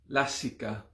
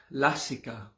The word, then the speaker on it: lasika: but not this time this time it is the big a the long pronounced a lassi so depending on